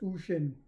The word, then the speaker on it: Uxin: talking about no other than none other than UXIN pronounced Ushin.